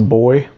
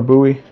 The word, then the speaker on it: buoy: English accent that sometimes they call this a boy like I've heard that in from people from